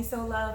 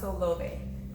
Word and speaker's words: Solove: People, love me, so they like to call me Solove, but it's actually pronounced Solove.